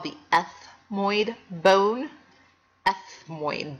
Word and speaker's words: ethmoid: called the ethmoid bone ethmoid bone sounds like you have a lisp ethmoid bone the ethmoid